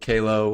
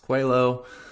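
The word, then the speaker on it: Qalo: do uh and stumbled Upon A brand called Calo which most people think is pronounced Quello yeah I'm wearing mine this time yeah yep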